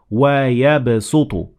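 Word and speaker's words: وَيَبْسُطُ: So it is better to say wa yabsutu. So you pronounce the sin instead of the sad.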